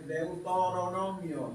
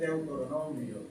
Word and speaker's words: Deuteronomio: Normalmente dicen la Biblia en el libro de Deuteronomio, no es Deuteronomio. Hoy queremos ayudar a corregir eso. Mire que no tiene la OI. Deutor, es Deuteronomio.